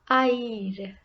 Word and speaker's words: haïr: Now this is used when there are 2 vowels together and both need to be pronounced. Example. Noël, Christmas. Haïr, to hate.